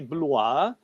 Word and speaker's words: Blois: Está escrito aqui Blois, né? Pronuncia-se Blois. Então, os condes de Blois,